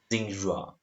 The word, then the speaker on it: Xinhua: It's pronounced like Xinhua.